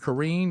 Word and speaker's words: Karine: course that's green uh Karen is how you say it Jean Pierre and so